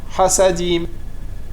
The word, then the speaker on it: Hasadim: Hasadim, c'est pareil, c'est Milera. Hasadim. Le Het, il n'est pas prononcé longuement. Hasadim, on n'a pas le temps de s'arrêter sur le Het.